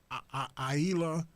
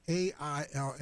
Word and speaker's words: Aila: I went to an article written by, I think you pronounce this Aila Slisco. It's A-I-L-A. Is that I think it's Aila Slisco.